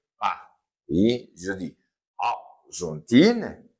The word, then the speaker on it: Argentine: Oui, je dis Argentine, je ne prononce pas le E, Argentine, et je dis France.